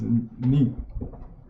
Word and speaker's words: 恁: So it pronounced in Chinese as ni.